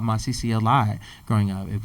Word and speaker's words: Masisi: So yeah, I got called Masisi a lot growing up.